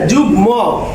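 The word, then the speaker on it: যুগ্ম: এখানে আছে যুগ ম, ময়ের উচ্চারণটা কি আছে বজায় আছে।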